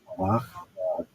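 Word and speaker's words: מלאך: So the Hebrew pronunciation is malach, it's translated as messenger or emissary.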